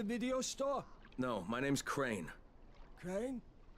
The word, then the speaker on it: Crane: store no my name's crane crane crane rhymes with train and and S and